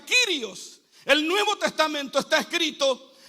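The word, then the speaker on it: κύριος: En el rom, en el latín, señor, se dice dominus y en el griego, Señor, se pronuncia Kirios.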